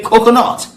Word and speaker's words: coconut: It's a coconut. Coconut. He said, no, coconut. Coconut. Coconut. Coconut. So the emphasis is more on the nut, not the cocoa, right?